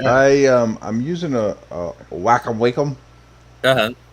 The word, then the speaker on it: Wacom: um i'm using a wacom wacom uh-huh how do you pronounce it welcome welcome okay uh like a